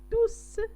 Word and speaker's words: tous: Ils étaient tous fiers هنا tous كنطقوا هاد اس.